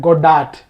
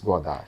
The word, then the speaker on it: Godard: In English, we are call him Godard. Yeah, in Tamil Nadu also they call Godard, but the French pronunciation is Godard.